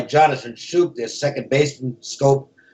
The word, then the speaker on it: Schoop: Schoop their second baseman scope I guess is the pronunciation excuse me and he